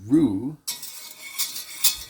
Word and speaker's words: roux: is another French term r-o-u-x pronounced Rue as in your room today when you make